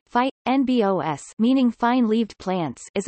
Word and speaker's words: fynbos: fynbos Afrikaans pronunciation phi n BOS meaning fine leaved plants